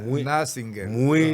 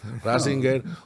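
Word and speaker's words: Ratzinger: que era un tipo Nassinger. Lo está pronunciando mal. Ringer. Ninger. No, no, no. Está Rassinger.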